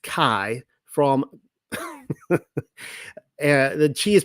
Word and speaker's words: chi: for you but the the chi is pronounced Kai for the she is